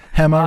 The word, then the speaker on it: Hema: Morgan Freeman himself, is Hema Jr. Hema Jr. Hema rhymes with dilemma. Hema rhymes with dilemma.